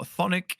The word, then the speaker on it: Chthonic: Almost silent, but not quite. I will just say it silently for it's for generally ease. pronounced Chthonic. Okay. So yes, Abyssal, Chthonic, or Infernal.